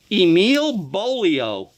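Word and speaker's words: Emil Beaulieau: boom out the door Emile bolio rhymes with polio now this guy was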